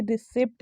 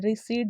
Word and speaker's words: receipt: है, रिसीट लेना है, ना कि रिसिप्ट लेना है। रिसिप्ट नहीं बोलते हैं, देखो लोग बोलते यही है, वो ना एक हो गया मतलब डेली यूज़ के इंग्लिश में, बट ये ना गलत प्रोनाउंसिएशन है, रिसीट बोला जाता है ऐसे, ठीक है।